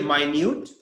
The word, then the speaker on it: minute: better okay see here my Newt we spell in the same way like give me a minute same spelling but we pronounce it differently here it's a different